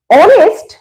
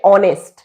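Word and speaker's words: honest: বা এন বসাবো এবার আমি ভাববো যে এটার উচ্চারণ কি অনেস্ট এইচ টা সাইলেন্ট দেখো অ হচ্ছে আমাদের স্বরবর্ণর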